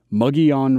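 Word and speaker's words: Mogollon: to type the name muggy on rim based on how i'm saying it you'll discover that it's spelled almost nothing like it sounds according to the local pronunciation here in arizona the plateau was probably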